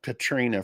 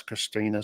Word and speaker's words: Christina: what's the other night I was calling you Katrina for some reason I see it now it's clear now it's Christina sorry about mispronouncing your